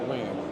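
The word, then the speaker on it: Nguyen: So the N is silent and it's win. Yes. So W is like the Smiths of America for Vietnamese people. You either see wins or trans.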